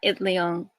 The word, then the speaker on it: Itliong: know how to say his last name, Larry Itliong? Yeah, Itliong.